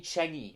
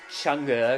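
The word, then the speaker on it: Change: I'm going to persevere onto the Changi extended mix, which is 10 minutes 47. That's right, this is the more Butterfly 3000 sounding track. Okay, I think it's actually pronounced Chunga according to the lyrics, so my bad for the mispronunciation.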